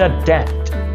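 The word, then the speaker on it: debt: When will you पे द डेप्ट? तुम कर्ज कब अदा करोगे? याद रखना इस वर्ड को हम डेप्ट बोलते हैं। डेप्ट नहीं बोलेंगे। इसके अंदर जो बी है उसको प्रोनाउंस नहीं किया जाता।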